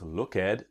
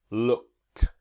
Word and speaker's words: looked: a regular verb and we don't pronounce look at but looked looked now remember two steps